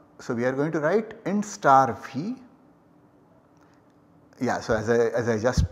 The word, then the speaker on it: int *v: So we are going to write int star v. Yeah, so as I just pronounced it, this is going to be read or pronounced as int star v.